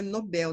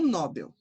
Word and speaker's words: Nobel: Nobel, sílaba tônica é o bel, né? Então é Nobel, não Nobel.